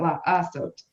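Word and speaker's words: לעשות: Teresa, that you have another syllable with the ayin. So you got to say Yes. la sot. 3 So syllables. you have to definitely say that La Asot.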